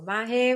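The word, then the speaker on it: Mahé: And you mentioned the main island it's Mahe, right? That's how you pronounce it? Yes. And you have these two ones that you have all the infrastructure. So Mahe, which is the biggest one, and the one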